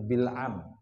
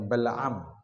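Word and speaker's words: بلعم: salaba bilam Ibnu Baur di sini diharakati bilam di syarahnya itu ada juga yang membacanya Balam Balam bin baura maamahuiti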